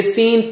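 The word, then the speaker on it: س: How do you say sin? Touch the tongue tip to the edge of the lower teeth.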